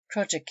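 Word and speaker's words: cross-jack: little ahead of her cross track yard pronounced project yard the lower yard on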